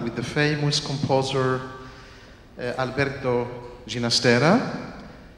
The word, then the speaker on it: Ginastera: He preferred the pronunciation of his name to be alla italiana, Ginastera, because his one of his parents was Italian, the mother was Italian, I think, and the father from Catalonia. And you know, in Spanish you say Ginastera, but he preferred Ginastera, alla italiana.